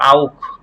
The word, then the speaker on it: auch: এই যে এখানে আপনার ইউ আছে, সে হা এর আগে ইউ আছে, তাহলে এটা খ এর মতো উচ্চারণ হবে, আউক, আউক গুড, ডানকে Auf gut.